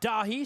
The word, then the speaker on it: Dahi: in the first half I mispronounced Jacob's name and said Jacob Dahal it is Jacob Dahi so I apologize for